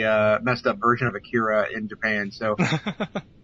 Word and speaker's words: Akira: and i said uh akira and she said it's pronounced nakida and i said uh no it's not it's i mean if it's pronounced anything differently it's definitely not that and then i had